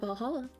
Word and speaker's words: VA-11 HALL-A: The name's not silly and a bit hard to pronounce. Good thing it's actually called Valhalla. The funny numbers and letters are just code.